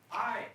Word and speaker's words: hi: Hi. I'm noticing that hi has an I at the end, but it still says the long I sound, like my and by.